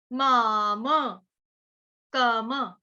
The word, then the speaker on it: मामकम्: अगला वाला म भी पूरा है, तो क्या उच्चारण होगा, माम, माम, कम।